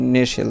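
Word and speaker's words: Nestlé: এর কিন্তু উচ্চারণ হয়নি, কারণ ST আমরা জানি বা রুলসে পড়ছি যে STL থাকলে টি এর আর উচ্চারণ হয় না, তাহলে হবে কি? নেশেল। দেখো NESLE নেশেল এরকমের উচ্চারণ দিয়েছে আমাকে, টি এর উচ্চারণ হবে না।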